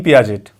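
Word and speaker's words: Piaget: first इ जन gene पियाजट इसमें टी प्र टी जो होता है साइलेंट होता है पियाजे कहते हैं इन्हे एलस वाइगोत्सकी इवान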